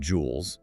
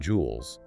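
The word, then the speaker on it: joule: In the standard system, the SI system, work is measured in jewels. It's spelled J O U L E.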